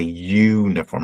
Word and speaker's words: uniform: vowel here doesn't it U is a vowel but is it a vowel sound right do you say uniform no you say uniform right has a hard Y sound you almost say it like this un form right something more like that we you could use phonetic spelling but you have a Y sound right like yes or or similar sound um so in this